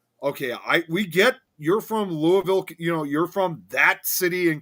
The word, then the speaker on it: Louisville: way, it's like, okay, we get you're from Louisville, you're from that city in Kentucky. Right. That's not how we pronounce it over here.